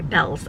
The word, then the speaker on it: Bealls: to the Bell store I called it Beals so much sorry Bells I'm sorry it just when you see a word you like think it's that's how you pronounce it no it's not